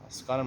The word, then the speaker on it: Askanim: Askanim rhymes with Rabbanim.